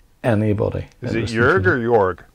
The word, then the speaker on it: Jörg: Is it Jörg or Jörg? It's J O two dots in the top of it, R G. Jörg. Jörg, I thought that. Yeah, I thought it was Jörg.